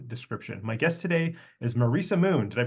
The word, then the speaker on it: Marisa Moon: in the show description my guest today is Marissa Moon did I pronounced that properly you did awesome awesome uh